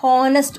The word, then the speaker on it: honest: Okay, see this is a consonant but sound is a vowel sound, honest, O sound.